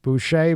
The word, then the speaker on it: Boucher: so much thank you I got your name right Boucher but it's spelled culture yep it looks like voucher yes b-o-u-c-h-e-r right that's